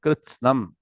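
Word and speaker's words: कृत्स्नम्: Tatra ekastham, very important, but ekastham jagat kritsnam, two words. Jagat, independent word, kritsnam. Every word kritsnam comes. Should practice constantly to pronounce the word kritsnam. How many syllables are there? K, R, T, S, N.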